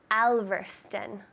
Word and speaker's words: Alverston: So it's not Alverston because of that O, right? It's not Spanish. So I would say Alverston. Stun. That sounds like a U.